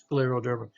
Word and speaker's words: scleroderma: that is right scleroderma here's an sc scleroderma scleroderma is a pretty nasty